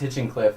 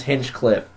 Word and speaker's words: Hinchcliffe: So that'd be James Hinchcliffe in that's what fifth, I said. not Hinchenscliff. There's no Ian in there.